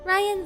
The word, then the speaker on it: Raian: My name is Raian. I am a night VTuber. If you don't know who I am yet, yes, my name is pronounced like Ryan.